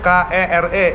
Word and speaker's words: kere: seperti yang diucapkan contohnya kere ini Pak kere kere itu artinya mau tulisannya K e r e dibaca kere tulisan aslinya q u e r e r jadi berubah bacanya kere